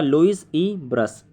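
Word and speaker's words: Louis Brus: दूसरा नाम है आपका लुइस ई ब्रस, LOUIS space E.ब्रश, BRUS, H मत लगा देना भाई, ब्रुश हो जाएगा वो।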